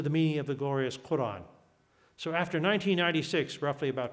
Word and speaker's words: Quran: use in English is Koran. He even makes an argument that people who are not Arab don't understand the word Quran. It's a funny Q, it's a long A.